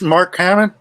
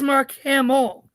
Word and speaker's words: Mark Hamill: Who is Mark Hamill? Mark Hamill is incorrect. Josh. Who is Mark Hamill?